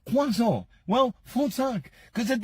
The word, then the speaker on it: croissant: And I know a lot of people will always say, do you know, no, you don't say croissant. You say quazo.